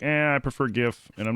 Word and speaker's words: GIF: There's no way it's actually GIF. That's, from what I understand, he said that that's how it's pronounced, GIF. Like George.